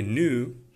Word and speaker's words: knew: He knew these. Это слово читается как new в американском. В британском будет new. Так же, как и слово новый. New.